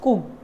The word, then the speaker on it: cooked: You can change the last pronunciation ed as t. Ed as t. So just imagine that you are just saying someone, I just cooked.